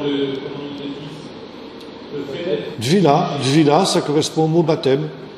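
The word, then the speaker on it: טבילה: Dvila, ça correspond au mot baptême. Et ça s'écrit comment? Ça s'écrit comment? Ça s'écrit comment? T-V-I-L-A, Dvila.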